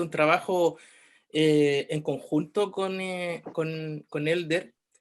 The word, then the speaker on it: Helder: que mi nombre no lo pronuncien como J, ¿no? Así como en chileno no, por la H muda, Elder.